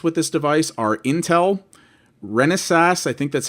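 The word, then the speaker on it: Renesas: avermedia officially supports with this device are intel renaissance i think that's how you pronounce their name r-e-n-e-s-a-s and somebody called fresco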